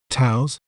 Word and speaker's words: Taos: word to better understand its pronunciation we may pronounce it as TOS TOs Here We Go Again TOS TOS is